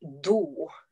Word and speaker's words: do: One is that the vowel pronunciation is really important. So if you want to say that you want to go to the toilet, you have to use the word do, which is like an oo sound.